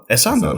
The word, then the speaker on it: Essandoh: It's the emphasis on the second syllable. Yes. Very good. Okay. So what would you say it? Essandoh.